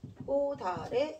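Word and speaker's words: 꽃 아래: 그러면 치읓의 대표는 뭐예요? 디귿이겠죠? 그래서 얘를 꼬다래 이렇게 발음하면 돼.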